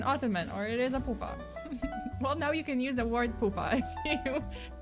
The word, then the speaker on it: Pufa: It's spelled as P-U-F-A. So it's not like in Polish. It's P-U-F-A. It's not P-O-O-F-A. But yeah, it's pronounced as Pufa.